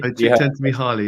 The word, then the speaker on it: Csikszentmihalyi: And one of the ideas and thinkers I look at in Waypoints is a guy called Mihaly Csikszentmihalyi. Have you? Csikszentmihalyi, yeah, it's really hard. I was going to pronounce it wrong, and you pronounce it right.